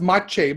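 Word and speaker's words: mâche: It seems like now, is it spelled like, I thought it was pronounced mache, but it's M-A-C-H-E?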